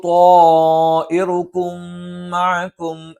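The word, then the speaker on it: طَائِرُكُمْ مَعَكُمْ: ഖാലൂ ത്വാഇറുകും, ഒരേ പദത്തിൽ മദ്ദക്ഷരവും വന്നു ഹംസും വന്നു. അങ്ങനെയാണെങ്കിൽ നിർബന്ധമായും നീട്ടി ഉച്ചരിക്കേണ്ടതുണ്ട്. ഖാലൂ ത്വാഇറുകും മഅകും, സുക്കൂനുള്ള മീമിന് ശേഷം മീമ് വന്നു. ത്വാഇറുകും മഅകും എന്ന് തന്നെ ഉച്ചരിക്കണം.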